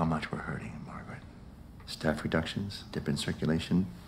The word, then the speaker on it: Margaret: To pronounce Margaret, have in mind that the size of the syllable indicates where the accent or stress is. In this case, the accent is in the first syllable, corresponding to Mar.